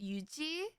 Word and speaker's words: Yuzi: Okay, so originally in Korean, my name is pronounced Yuji.